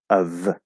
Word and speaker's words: of: the f and of it's spelled with an f but it's a v sound of of okay but the